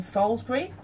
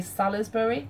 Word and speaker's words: Salisbury: example I know it happened in Salisbury or you might say Salle's burry I was half phonetically how it's spelt and it was a